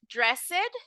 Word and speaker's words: dressed: Suena como si dijera dressed en lugar de dressed.